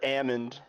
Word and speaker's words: almond: says Ammond Ammond Ammond the L is silent Ammond I would think they're talking about a person a person's name sounds more likely than not no almond and I say the